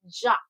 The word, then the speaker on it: Jacques: Jacques. Yeah. Yeah. Because people say Jack and it's not Jack.